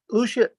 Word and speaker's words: Lucia: Lucia, am I saying that right, Lucia? Lucia? Well, we have two of us have different pronunciations, but yeah, Lucia, okay, I'm Lucia, yeah. Okay, Lucia.